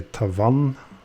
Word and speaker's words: Tavannes: For Cyma, that was then Tavannes. You will also find a few Tavannes watches, but mostly from the really old days. And just to note as well, when I say Tavannes, that's the French pronunciation.